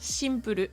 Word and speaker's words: シンプル: vous rappelle he que les japonais ne peut pas prononcer le son si si vous appelez Cyril c'est bien chiril donc si pe le simple devient shimpele en japonais et encore une fois